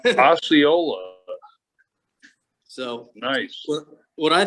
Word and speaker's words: Osceola: it's january 24th nope okay so this is asa cola so this is florida florida okay probably pronouncing it wrong osceola so nice well what i thought was uh